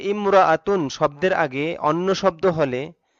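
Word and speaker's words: امرأة: এটা বুঝে নিতে হবে যে ইমরাআতুন শব্দের আগে অন্য শব্দ হলে, ইমরাআতুন শব্দের আগে অন্য শব্দ হলে আলিফটি শুধু লেখায় আসে, উচ্চারণে আসে না।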